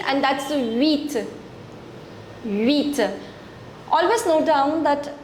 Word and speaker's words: huit: The next one is the number 8, and that's huit. Huit. Always note down that in French we do not pronounce the letter H. We write it, but it's always silent. Okay? It's huit.